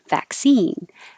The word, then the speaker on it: vaccine: k and an s so vaccine back and you don't release the k vaccine that i go up and stop the airflow with my k vaccine vaccine and the e is the stress vowel this looks like a